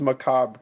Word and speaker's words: macabre: the hallways it's it's Macabre Chris it's just Macabre you don't pronounce the r the corn macabre yeah